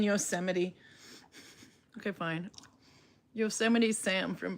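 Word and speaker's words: Yosemite: I've never heard it pronounced Yosmite before. So yuseite is probably the pronounce it. Now we have to look it up. What does Google say? How do you pronounce? I don't want to say yo my ah They're saying yuseite.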